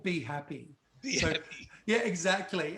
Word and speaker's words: BHAPI: A lot of people calling it Bappy because it's spelled BHAPI. So depending on how you phonetically speak, like for me, it was automatically Be Happy, but I get Bappy as well.